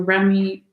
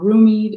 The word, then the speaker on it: Rumi: these cards um so this is your remy or roomie depending on how you pronounce it okay oracle deck